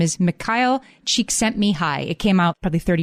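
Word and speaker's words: Csikszentmihalyi: I'm going to pronounce his name carefully. His name is Myle Cheek sent me high.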